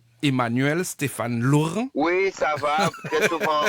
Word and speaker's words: Emmanuel Stéphane Laurent: Laurent je sais pas ce que c'est bien prononcé Emmanuel Stéphane Laurent oui ça va très souvent on déformme mon